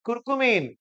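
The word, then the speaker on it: curcumin: हळदी मधला मेन इ्रेडियंट कुरकुमन मग मला सांगा तो कुरकुमिन आहे माझं प्रोनन्सशन समजून घ्या कुरकुमन म्हणतोय बर का मी ऑसली अँटीसेप्टिक आहे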